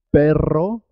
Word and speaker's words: perro: árbol es muy importante perro se escribe con dos erres y suena doble perro cuando se escribe con